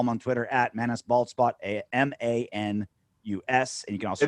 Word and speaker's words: Manus: You can follow him on Twitter at ManusBaldspot, MANUS. And you can also it's Manu, man, like Manu Ginobili.